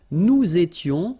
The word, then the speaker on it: nous étions: Nous étions, little liaison here to make it more beautiful.